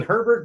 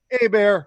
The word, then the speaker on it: Herbert: want to call him we know Herbert's the right way to say it but we're gonna go with a bear just for the hell of it but I I think